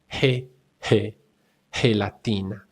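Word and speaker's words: gelatina: And we also have the soft g sound which is g e and g i as in he he latina helatina.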